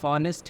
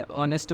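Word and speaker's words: honest: एक वह है कॉन्सोनेंट है, लेकिन इसका जो प्रोनाउंसिएशन हो रहा है ओ में हो रहा है। ठीक है ना, ऑनेस्ट ही बोल रहे हैं, इसे ऑनेस्ट बोलते हैं, इसीलिए ऑनेस्ट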